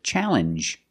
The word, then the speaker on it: challenge: the same sound NJ this word too challenge makes the same sound the regular n plus the J sound challenge what is a